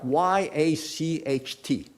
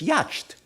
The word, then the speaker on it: yacht: can pronounce the word in English you have words like y a c HT can you spell that can you pronounce that y a c HT it's yed but they say yacht I mean how did they get yacht right I mean if